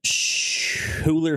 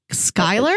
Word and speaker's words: Schuyler: And is played by Schuyler Fisk, I believe is how you say, or Skyler. I believe. I would think it's Skyler, but there's a U in there. S-C-H-U-Y-L-E-R. I think it's Skyler, because I think that's Skyler? How the Skyler sisters from Hamilton, I think that's how their name is spelled.